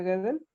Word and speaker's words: Gödel: sobre eso de paradojas y de Gödel, se pronuncia Gödel, y van a ver cosas bien interesantes porque